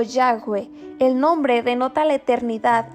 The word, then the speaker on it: Yahweh: Aunque es incierta la verdadera pronunciación de la palabra, es probablemente Yahweh o Yahweh.